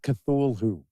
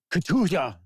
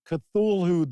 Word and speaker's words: Cthulhu: It is not Cthulhu. And I know that. I know it's not Cthulhu. It's like Cthulhu. It's almost like a cough, sneeze.